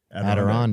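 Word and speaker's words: Adirondack: I don't know how to pronounce that word. Aderonde.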